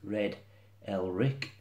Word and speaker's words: Elric: It is Red Elric, and it is a variation on the Viking name Eric the Red.